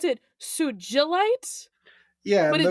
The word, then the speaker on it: Sugilite: Sugilite is commonly pronounced with a soft G, as in ginger.